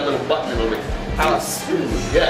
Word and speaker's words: Palisoul: I pronounce it Palisoul, Palisoul. but it is said So? soul, like the food. So? Yeah. Like soul food.